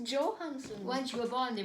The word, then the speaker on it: Johansson: it's Joe Joon I I wonder why people go yanson it's it's Johansson once you were born